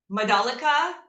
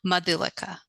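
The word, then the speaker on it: Madhulika: Okay, so the first syllable is more of a U than an A. Okay, so Madolica Can you or actually Madolica.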